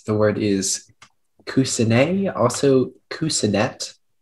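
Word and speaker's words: coussinet: more time uh yes the word is kusinay an alternate pronunciation of cousinette it is a noun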